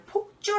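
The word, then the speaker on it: 輻: 한쪽으로만 모여들 때 를 폭주 라고 펴 주죠 바키 4155 바퀴 살 폭 잡니다 복자 아니라 폭 짜 입니다 제가 잘못했네요 발음을 잘못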